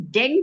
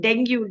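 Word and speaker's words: dengue: It's a it's the correct pronunciation is deng fever. But people call it denu. Dengu for some reason.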